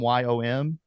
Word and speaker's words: Yom: say it wrong, but I think it's like it's yam. The word yam. Y O M.